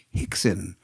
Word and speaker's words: Rickson: And so they pronounce their R's as H. Ergo, whenever you speak to somebody from Brazil who speaks to, if you were to look at Rickson Gracie, you would call him Hickson.